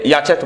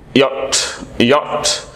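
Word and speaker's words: yacht: ওয়াই এস সিএসটি, এটা আমরা অনেকে ইয়াচ্যাট বলি, এটা রং সাউন্ড, এক্স্যাক্ট উচ্চারণটা হচ্ছে এটা ইয়ো সাউন্ড, তারপর হচ্ছে শর্ট অ সাউন্ড, তারপর টি সাউন্ড, ইয়ট ইয়ট।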